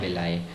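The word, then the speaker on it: villi: जिसको विलाई बोलते हैं, जिसको प्रोनाउंस करते हैं विलाई।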